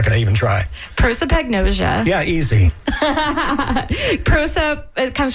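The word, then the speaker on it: prosopagnosia: So but so you pronounce it for me because I'm not going to even try. Proipagnosia.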